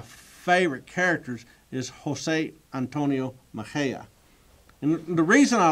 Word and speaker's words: Mexía: cities in Texas because nobody knows how to pronounce the name Mexia or it it is Maha it's Maha it's not you know Mexia um but this guy